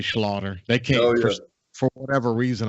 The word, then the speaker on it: Schlater: country between Slater and iina and it's actually pronounced Slaughter but it's spelled Slater so it confuses people